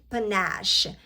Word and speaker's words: panache: Panache, show we confidence, pronounced panache, pen ash.